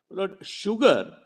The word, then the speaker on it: sugar: that do you know sugar is the only word in English where s is pronounced as sh in his answer was